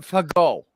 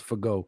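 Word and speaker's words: Fagot: I think they say it Fago. I think the it's T is silent. The T is silent. It's like Moe. Everybody says Moet, but it's Moe. It's Fago.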